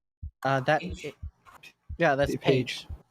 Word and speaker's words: Paige: that yeah that's a page page with an i p a i g that's what it's usually